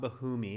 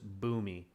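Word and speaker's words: Bhumi: roshini good boomy so you don't pronounce the h so it's not bahumi it's just boomy okay cool i'll remember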